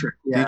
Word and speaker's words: Detrick: Just make sure it's Dietrick. Dietrick. Make sure I'm pronouncing that right.